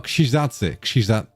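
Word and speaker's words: Krzyżacy: It just has a Polish name, which I forgot how to pronounce. Is it Christacie? Hold on, let me Google translate. Wait, no. Pronunciation. It's this word. How to pronounce this thing? Oh, Kshizazi. Kshizazi. That's the one.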